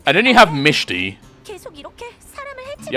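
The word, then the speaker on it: Mechty: Or if you try to say it how it's spelt, Mekti. But the pronunciation for what I heard is Mishti.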